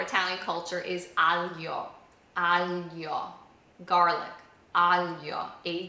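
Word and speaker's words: aglio: Alio.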